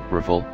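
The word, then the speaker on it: Rafale: aircraft number four the Das Al rle French pronunciation riffle literally meaning gust of wind comma 10 and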